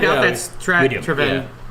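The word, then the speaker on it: Taravangian: Trevengian? Teravangian. No, It's Trevangian, everyone.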